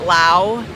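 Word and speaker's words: Laos: I never went to is it Lao that's the correct pronunciation I never went to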